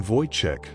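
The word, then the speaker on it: Wojtek: They name him Voychek, pronounced via, a traditional Polish name meaning happy warrior.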